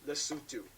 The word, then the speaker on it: Lesotho: oh by the way this country is pronounced the sutu foreign anyway let's